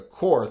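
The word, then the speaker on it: Korth: right next we have cor guns or Court as some people like to say but I say we won the war so we get to decide how things are pronounced and this is the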